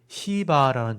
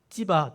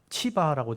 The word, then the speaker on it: 시바: 여기 시바라는 종이 나옵니다. 원래 히브리어에는 찌바 또는 치바라고 돼 있는데 우리나라 말로 옮길 때 찌나 치가 발음이 어려워서 그냥 시바라고 번역을 했어요.